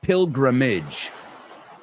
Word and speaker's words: pilgrimage: And the word pilgrim is peregrino, you say, and peregrinaje is pilgrimage. Es interesante porque acaba con age, pero se pronuncia como bridge. Pilgrimage, idge. Rob Grams did a pilgrimage this summer, right?